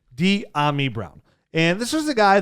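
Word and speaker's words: Dyami Brown: overthought it that's right it's diami brown d ami brown and this is the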